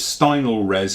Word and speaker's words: Stynylrez: the Stein of safe pronounce this is a little bit odd okay but it's Steindl res is what I'm calling it okay this here is